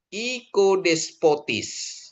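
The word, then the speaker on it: οικοδεσπότης: Terus O ketemu I, Omikron ketemu Yota, dia bacanya I. Ikodespotis, ya.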